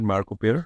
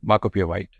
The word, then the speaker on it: Marco Pierre White: So did I pronounce it right? Marco Pieri? Marco Pierre White.